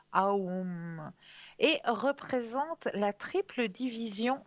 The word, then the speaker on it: Aum: Alors le mot sanskrit Aum se prononce comme Aum et représente la triple division du temps, état d'éveil, état de rêve et sommeil profond.